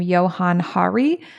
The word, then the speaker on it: Johann Hari: Recently, I was reading actually a pretty great, although honestly quite depressing book by, I think we pronounce his name, Johann Hari.